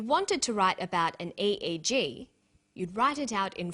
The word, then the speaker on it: EEG: that say the swinburn researchers he says an EEG that's an abbreviation we don't pronounce it e we say e EEG EEG